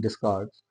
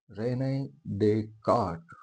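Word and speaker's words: Descartes: his philosopher Mentor which is who was R discards so um sorry it's his pronunciation is French so this will be pronounced as Rai de so his mentor theory that was the idea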